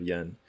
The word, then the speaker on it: Yan: a lamppost way halted and overcome with emotion pronounced yen the pride of hernan he said that he